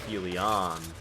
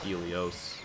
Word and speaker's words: helion: up in the air other one helion not Helios what is that laser